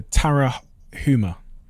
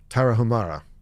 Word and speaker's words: Tarahumara: American tribe, and I'm going to try and pronounce this, the Tarahumara. Tarahumara.